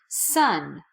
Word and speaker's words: son: Sun in the sky are pronounced exactly the same way even though the spelling is different they're both pronounced son